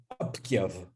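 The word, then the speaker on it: أبيض: So an Arabic word, the Arabic word abyad, white, is pronounced abkyav, right? And there's even the this insertion of a velar stop, right? And then the devoicing of the ba, right?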